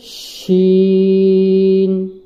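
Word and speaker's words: ش: এটা হচ্ছে শিন, এই জিমের মতোই জিহ্বার মধ্যখান শক্ত করে তার বরাবর উপরের তালুর সঙ্গে লাগিয়ে শিনের উচ্চারণ হয়।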